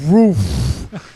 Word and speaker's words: Ruff: His name is David Roof, but it's spelled R-U-F-F. So it looks like rough. It's David Roof.